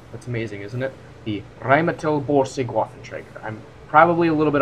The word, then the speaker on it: Rheinmetall Borsig Waffenträger: Actually, I know how to pronounce this, guys. That's amazing, isn't it? The Rheinmetall Borsig Waffenträger.